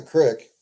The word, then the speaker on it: creek: That's how you pronounce creek in Midwestern slang. That's a crick.